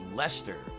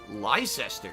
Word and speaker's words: Leicester: knew it was pronounced lester because it's a lot of silent letters there that would be pronounced lyster if that were accurately pronounced you know proper english but apparently it's something different lester they completely skip a